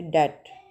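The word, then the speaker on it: debt: तो बी बी यहां पे साइलेंट है। इसको प्रोनाउंस नहीं कर रहे। डेट ठीक है? बी साइलेंट है।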